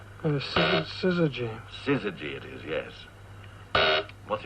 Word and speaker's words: syzygy: What is the meaning of, and I'll spell it, and you better pronounce it, S-Y-Z-Y-G-Y. Syzygy.